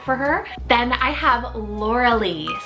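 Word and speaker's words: Lauralie: name was perfect for her then I have Laura Lee spelled l-a-u-r-a-l-i-e Lauralee now this one is very playful a little bit more longer if you want three syllables and Laura Lee is like Botanical inspired and it means Bae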